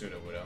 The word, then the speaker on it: Sudowoodo: up at 5 o'clock this morning to it's pronounced sudowoodo let's just have you be here through order